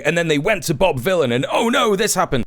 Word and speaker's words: Vylan: This guy is not Bob Villain. He is one of two Bob Villains. You got Bobby Villain. This this guy and the drummer is also called Bobby Villain. The difference being this guy is spelled with a Y.